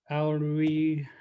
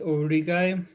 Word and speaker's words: Aurigae: That's how I pronounce Aurigae anyway. So how you would spell it is Aurigae. That's the classical Latin pronunciation, and then obviously the TZ in front.